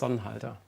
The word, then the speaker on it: Sonnhalter: Sonnhalter. You spell it Sonnhalter.